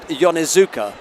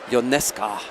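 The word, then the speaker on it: Ionescu: And I did ask Nicholas and Jack about the pronunciation of the name because I always said Yonezuka, but they said it's Ionesca. Well, we won't get that wrong, Nicholas.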